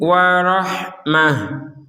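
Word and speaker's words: ورحمة: Nah, huruf ha-nya kita baca huruf ha ya, jangan ha. Warah huruf ha, warahmah. Yang kedua ini terbaca sebagai huruf ha. Kenapa? Karena berhenti di sini seperti yang sebelumnya dijelaskan tadi, yaitu huruf ta bulat ini kita baca sebagai huruf ha ketika kita berhenti.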